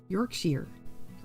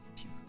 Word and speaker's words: Yorkshire: Yorkshire. Yorkshire. Okay. I'll get it. I'll get it. I'm sorry. Uh, the ending in Yorkshire is the same ending as in Worster.